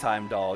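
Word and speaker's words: Heimdallr: It's just Heimdall. You don't pronounce the R, huh?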